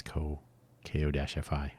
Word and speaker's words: Ko-fi: And it turns out that Buy Me a Coffee, I was hoping that Ko-fi would have this, Ko-fi. I pronounce it like that to emphasize that it's not coffee, but that's clearly what they're going for.